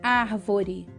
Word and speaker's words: árvore: Então, árvore, por exemplo. Árvore. Percebe? O ar é a sílaba mais forte. Então, é uma palavra proparoxítona.